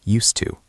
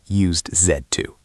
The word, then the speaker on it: used to: It's soft. Used to, not used zed to perfect.